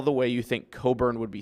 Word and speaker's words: Cockburn: Cockburn. Go ahead and toss that up there. Coburn. That's a little rough. Please show me anywhere in any language where a CK is silent.